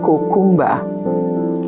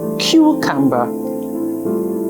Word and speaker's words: cucumber: let's take other examples the words cucumber a lot of people would say cumba and the actual pronunciation is cucumber how about this word